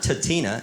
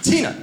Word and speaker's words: Tina: tina and she's like it's not tatina it's tina tina that's we're like okay